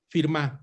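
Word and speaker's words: Firmin: con este gran haitiano, Antenor Firmá, se escribe Firmín.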